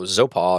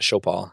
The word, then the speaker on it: Zopal: Sopal Oh, Zopal. I pronounced it Shopal.